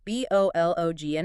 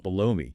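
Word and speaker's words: Bologna: Spelled B O L O G N A. Reflecting its Italian city origin. Mhm. But how do most English speakers say it? Bologn. Bologoney. Yeah. We completely change the vowel sounds.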